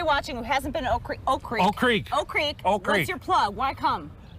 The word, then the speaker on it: Oak Creek: Just don't pronounce the first K. Oak Creek.